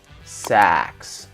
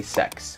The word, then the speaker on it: sax: a little pronunciation tip if you want to talk about a saxophone you want to drop your jaw sax because if you don't you're gonna say sex and that's a different word classical Jazz sex and